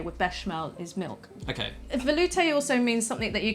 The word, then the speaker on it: velouté: But how do you pronounce it? Velouté.